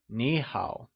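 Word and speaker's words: 你好: tone (3rd) Greetings Hello Nǐ hǎo Grammar tip!Note that, whenever we have two third tones, the first third tone is pronounced as a second tone For example in Nǐ hǎo, Nǐ is pronounced using the second tone!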